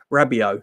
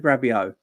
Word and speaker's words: Rabiot: Do you know how do you pronounce his name? Rabiot.